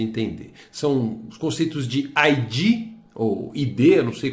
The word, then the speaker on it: id: São os conceitos de ID, ou ID, eu não sei como é que você fala, ego e superego. Claro, Fabrício. Vou explicar esses conceitos fundamentais da psicanálise. 1. Id. Pronuncia-se id mesmo.